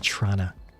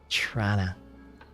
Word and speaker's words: Toronto: Toronto, whereas, once again, the real wording of it is Trana. C-H. Actually, hold on a sec. C-H-R-A-N-N-A. Trana. That's how a North End Torontonian pronounces Toronto.